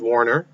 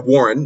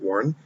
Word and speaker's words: Warren: And Elizabeth Warner, or Warren, not Warner, Warren.